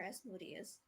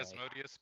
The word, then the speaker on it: Asmodeus: Do we say Asmodeus or Asmodeus? Asmodeus. I've mostly heard Asmodeus, but it's whatever your home group uses is the right pronunciation.